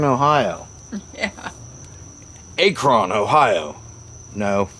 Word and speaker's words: Akron: And, you know, they can't even pronounce Akron, Ohio. Yeah. Akron, Ohio. No, it's not Akron, Ohio. It's Akron, Ohio.